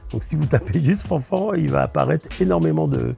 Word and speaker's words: Fanfant: Alors c'est très facile, vous tapez mon nom, Fanfan, alors ça s'écrit F-A-N, F-A-N-T, il y a un T